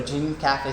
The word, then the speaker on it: Gene Cafe: which is pretty much easy to use it's pronounced a dream cafe roaster or jean cafe sample roaster actually you can roast it in